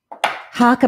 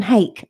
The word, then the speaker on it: hake: These are Harker brushes. I used to call them hake until I heard someone Japanese pronouncing that word one day, and they were saying Harker.